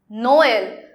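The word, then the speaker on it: Noël: Okay, there one more example is Noel. Noel. So no, we pronounce separately L. Noel.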